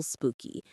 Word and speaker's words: spooky: The stress is on the first syllable.